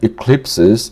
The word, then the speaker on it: eclipses: Eclipses stress on clip.